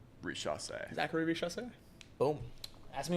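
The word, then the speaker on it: Risacher: I also learned how to pronounce the #1 overall draft pick's name. Say it. Oh, yeah. It's a good one. Richasse. Richasse.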